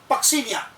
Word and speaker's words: Puccinia: Another is पक्सीनिया, pronounce होता है क्या? पक्सीनिया, PUCCINIA।